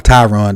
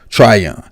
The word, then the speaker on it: Tryon: on joe try young i butchered his name i called him tyron the entire video and i apologize for that but it's joe try young and some people were